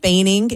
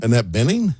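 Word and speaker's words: Annette Bening: Annette Baining is joining the cast as well. I don't know what her role will be. Annette Benning. Benning. Baining. I I thought you pronounced Baining.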